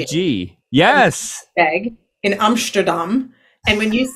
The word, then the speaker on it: Melkweg: So there's a venue in Amsterdam called the Melkweg. Do you know that venue? Yes. M-E-L-K-W, pronounced as V-E-G. E-G. Yes. Melkweg in Amsterdam.